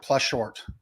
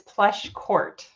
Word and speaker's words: Pleschourt: is it plush short close close but no it's plush Court okay that was my second one but I got a little Fancy with that cnh you know like in the Italian language it's brushetta the CH is not like children or Court well in your case court is the age is silent but thank you so